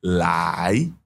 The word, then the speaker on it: 来: Le mot se dit lai. Donc, vous pouvez répéter avec moi lai. Lai, ce mot est au deuxième ton et il fait partie des mots basiques qu'on utilise tous les jours.